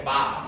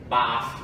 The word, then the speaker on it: Ba'ath: de um partido, que eu não tenho ideia de como se pronuncia o nome, mas eu vou falar que é Ba'ath, mas é tipo Ba'ath, né? Ba-A-I, apóstrofe, A-T-H, né?